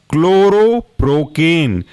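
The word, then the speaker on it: chloroprocaine: दूसरा है आपका क्लोरोप्रोकेन। जो प्रोकेन आपने देखा था उसमें क्लोरो हमको जोड़ना है, तो स्पेलिंग होगी क्लोरो, CHLORO, क्लोरो, और प्रोकेन, PROCAINE, दोनों को साथ में पढ़ेंगे क्लोरोप्रोकेन।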